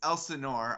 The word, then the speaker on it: Elsinore: on uh so you guys recently uh launched elsinore is that how you is that how you pronounce it it is elsinore although okay as well i've heard that pronunciation